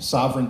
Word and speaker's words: Sovryn: just on Twitter at Sovereign Tech it's spelled like my last name s oov r y n and then just Tech um or you can go to z.